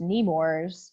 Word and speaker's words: Nemours: So this first one is, I think it's pronounced Nemours, which is a nonprofit group.